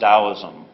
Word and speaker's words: Daoism: older way G's romanization system but it still pronounced Daoism it's an indigenous Chinese religion deeply rooted in